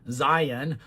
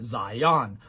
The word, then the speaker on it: Zion: I can at least say that he pronounces Zion the way that is common in Mormondom, Zion, rather than the way that's common elsewhere, Zion, although it'll be left